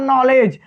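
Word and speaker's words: knowledge: यहाँ जैसे होता है नॉलेज, नॉलेज में क्या होता है के साइलेंट रहता है, क्योंकि के में जो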